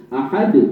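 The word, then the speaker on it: أحد: Qul huallahu ahad. Allahu akbar. Alangkah salah itu baca itu. Ahad tidak berpanjang ahad.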